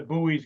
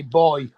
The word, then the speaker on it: buoy: yeah you see now there's another word that you pronounce different to us we still spell it the same but we just say boy boy yeah we don't call it a buoy we call it a boy we can't help that